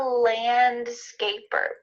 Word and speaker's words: landscaper: Notice the D here is kind of cut out.